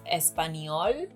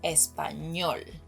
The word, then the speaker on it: español: Another thing that I have to mention is that he says español, which is understandable because the letter ñ is